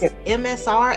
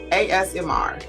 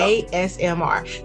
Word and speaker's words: ASMR: and they they said it was MSR as as as no you got me saying it wrong ASMR there you go ASMR so is that the